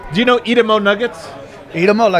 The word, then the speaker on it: Idemo: Edamo Nuggets. Do you know this? Edamo Nuggets? I'm sorry? Do you know Edamo Nuggets? Idemo, like the Serbian.